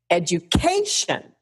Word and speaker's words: education: So, let me give you an example. Education. The K. Education. My pitch goes up. I'm a little louder. I emphasize it a bit. But shun drops off a cliff.